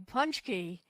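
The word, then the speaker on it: pączki: As you know, it's Ash Wednesday, the beginning of Lent on Wednesday, and that means Tuesday is Punchki Day, and you uncovered a really interesting flavor of Punchki.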